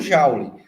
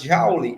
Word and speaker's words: Joule: um sobrenome inglês, mas Joule é um sobrenome francês, então não se pronuncia Joule, se pronuncia Joule. Porém, ninguém vai falar Joule, né? A gente fala Joule mesmo.